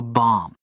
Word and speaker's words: bomb: This is pronounced bum without the last b. The last b is silent.